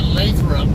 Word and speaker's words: Lathrop: is throw up yeah everybody i know who lives up here in northern town calls it lathrop and i i i'm always scratching my head on why it's pronounced that way and why it's not gonna pronounce laughter kind of makes me curious